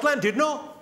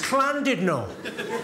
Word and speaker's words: Llandudno: This guy, front and centre, where you're sitting there, face like fucking thunder, went, it's not Llandudno, you bloody fool. It's Llandudno. In Wales, the double L is pronounced with a C.